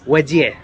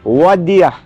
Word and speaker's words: Ouadia: How do I pronounce the name? Odia? Wadia. Wadia. Yeah, if you want to pronounce it correctly, it's Yeah. Wadia. Wadia.